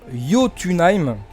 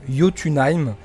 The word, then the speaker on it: Jotunheim: des elfes, ou encore Jotunheim, ça s'écrit avec un J, mais je crois que le J se prononce Y, donc Jotunheim, le royaume des géants.